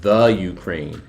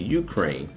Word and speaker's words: Ukraine: In my last video, I called it the Ukraine. It's actually Ukraine.